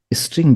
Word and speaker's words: str: यहां पे आपको लिखना है जस्ट एस टीआर बट उसको हम प्रोनाउंस करते हैं स्ट्रिंग।